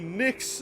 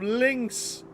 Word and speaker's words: Lynx: All I did was say Nyx instead of Lynx.